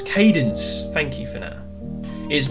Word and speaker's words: Cadence: see what it was candice is that is that you pronounce it can dense cadence cadence thank you for now